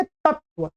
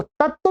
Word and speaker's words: तत्त्व: पर दो तकारों का उच्चारण होता है जब भी आप बोलेंगे तत्व, तत्व, तत्व, तत्व। तो तत्व भी लिखे तब उसमें दो त लिखने हैं, आपको ध्यान रखेंगे।